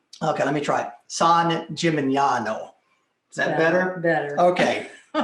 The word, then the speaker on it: San Gimignano: San Gimignano. Okay, let me try it. San Gimignano.